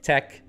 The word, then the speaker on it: TeX: The odd pronunciation is derived from the pronunciation of tech. Pronounced tex, tech is as if the X were the last sound in the name Bach. Okay, so there you go.